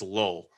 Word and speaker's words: Lole: Once again, that's Jermaine Lowell, Lole. I think I'm pronouncing that right. I think it's just Lowell.